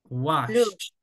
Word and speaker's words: washed: Pronuncia wash, normal. Washed. Ok, ahora usted me le va a agregar un sonido de T. Es wash, normal, ¿verdad? Wash y luego la T. Washed.